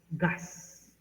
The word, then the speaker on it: GaAs: Pero it pronounced loud as gas.